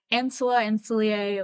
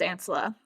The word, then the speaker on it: Ancilla: I said like, oh, you can start as I always mispronounce it, but like Ancilia, like however you pronounce that. I think it's Ancilla.